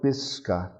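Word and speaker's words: Piskun: call it bisca so they try to spell it and with their western way they'd spell it p i s s like piss and khan k a and stress over the a sounds like a u pisca gun and some would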